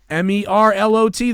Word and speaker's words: Merlot: MERLOT. The T is silent.